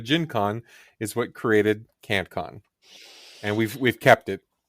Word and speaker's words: KantCon: the positive instead of being can con it's it's k a n t Co n so I guess I